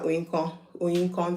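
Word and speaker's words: Oyinkan: I told her Oyinkon, 3 syllables.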